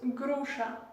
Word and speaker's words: груша: Poire, on prononce груша. Груша. Voilà, ici, on a la lettre chat. Ça, on prononce comme la lettre CH dans le mot chat.